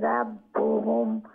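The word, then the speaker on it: رَبُّهُمْ: ফাকাযাবুহু ফাআকারুহা ফাদামদামা আলাইহিম রাব্বুহুম আলাইহিম, এখানে মানে ইয়ে গুন্না হবে না, রব্বুহুম সেখানে হবে। প্রথম মিমে মিম সাকিনে হবে না, দ্বিতীয়টাই হবে। প্রথম মিম সাকিনের পরে তো মিম আসে নাই, বা আসে নাই, দ্বিতীয় মিমের পরে বা আসছে, তাই ওইখানে ইখফা হবে।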